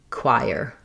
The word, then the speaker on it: choir: So listening, first we have the k sound, then the w glide. This is the gliding diphthong I, like in light or night. And then that I goes right into the ire. So it's really a triphthong R blend.